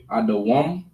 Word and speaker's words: Edom: So Edom is Adawam. Adawam.